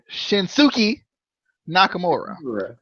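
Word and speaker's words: Shinsuke Nakamura: seven number seven is shin-soo key Nakamura that's that's how they that that's how they pronounce it in Japan so i'm pronouncing Sookie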